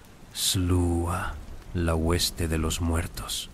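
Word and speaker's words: Sluagh: Pero quizás los espíritus más aterradores de Sam Fein eran los Slua, pronunciado Slua, la hueste de los muertos.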